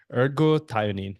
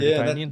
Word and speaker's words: ergothioneine: Ergothioneine. Am I pronouncing it right? Yeah, Ergothioneine?